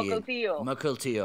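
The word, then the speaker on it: Mukilteo: Doncs tenim gent de Rubí, de Barcelona, de Vancouver i de Makeltio. On és això de Makeltio? Seattle. De fet, Com? hi ha la Marina. La Marina que ho pronuncia. Mokeltio.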